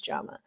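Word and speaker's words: Jaume: Orphan episode, I did look up how you pronounce his name, and I remember it was Jama.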